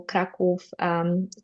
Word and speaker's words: Kraków: Warsaw, Kraków, Krakow is the English pronunciation. I'm from there, so I refuse to say it any other way.